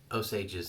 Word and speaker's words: Osage: nice I like it now I've heard this pronounced different ways I'm in Oklahoma osage's an Indian tribe here my facts County just to the north and west of where I am at and so it's Osage here in Oklahoma if you're